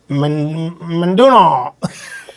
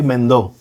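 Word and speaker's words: Mendó: So he's there, and the Latin Grammy for Best Latin Pop Album 20 goes to Alex Cuba, Menduno. he called it Menduno. to say Mendo.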